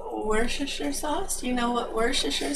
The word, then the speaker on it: Worcestershire: say it for you honey how it is pronounced is worcestershire sauce and how it is pronounced in my area of america they pronounce it worship and the first time i said that to